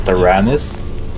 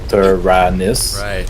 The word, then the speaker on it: Taranis: like my name was taranis so taranis but they were always it up in some way this it's three syllables but they were like